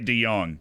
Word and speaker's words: de Jong: Der Beek and uh Frankie de Jong I do say de Young so I feel like